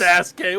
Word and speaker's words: Sasuke: Sasuke, what's wrong with you?